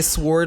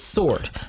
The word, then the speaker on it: sword: i hear someone say sword like the hair on the back of my neck stands up like i'm like no it is sword that w is silent do not do the swoop no no i hate